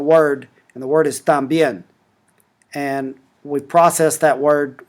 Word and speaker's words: también: So the stressed syllable here is también, and you can listen to the word pronounced by tapping on that speaker.